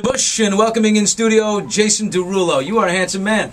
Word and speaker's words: Derulo: It's French, but it's spelled differently. My real name is actually spelled Derouleaux. Derulo.